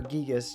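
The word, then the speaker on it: Giygas: journey to defeat the evil entity Gigas or Gigas technically is the official pronunciation.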